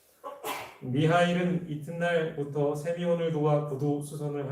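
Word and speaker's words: Михаил: 참고로 이 미하리일이라는 말은 이 미카엘, 그러니까 천사를 가리키는 말의 이 러시아식 발음이라고 합니다. 미하일은 이튿날부터 세미온을 도와 구두 수선을 하기 시작했습니다.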